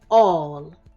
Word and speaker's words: all: It has an A that sounds like an O, just like in walk. It has two L's that are making one sound, just like in will.